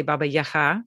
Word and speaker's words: Baba Yaga: So when I speak to Ukrainians or Ukrainian speakers, I say Baba Yaga, which is the pronunciation in Ukrainian.